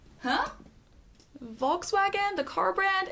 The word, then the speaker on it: Volkswagen: Oh, and your friend's Volkswagen.